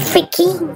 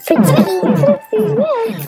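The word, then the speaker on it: frytki: I thought it was like freaky. Fritki.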